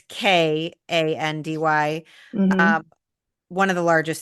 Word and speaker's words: Kandy: I think I can pronounce this Yep. one. Hopefully I'm saying it right. Yes. Yes, you But are. it's Kandy.